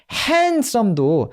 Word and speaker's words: handsome: handsome도 우리 그냥 처음부터 handsome이라고 배워서 그렇지 요 D 있잖아요. D 발음을 왜 안 해?